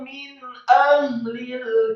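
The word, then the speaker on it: مِنْ أَهْلِ: Li ikhwanihimul ladzina kafaru min ahlil kitab. Kata min ahlil kitab, min a nun mati ketemu huruf alif hamzah idhar hakiki, dibaca jelas, tidak boleh digunakan atau didengungkan.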